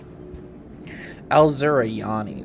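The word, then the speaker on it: Asuryani: Alzuriani. That's how you say it.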